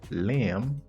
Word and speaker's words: lamb: qui finit avec MB généralement B pas prononcé mot ça qui veut dire lamb silent bien pas prononcer m